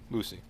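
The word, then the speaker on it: Luci: Lucy, or something, L-U-C-I, however you want to pronounce it. Lucy.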